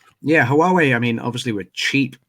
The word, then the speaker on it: Huawei: There's the pronunciation Matt gave it to you there. Huawei. Yeah. It's like Wawa.